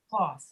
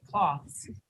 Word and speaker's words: cloths: They're taking the TH out and they're pronouncing it like this. Floss, like dental floss.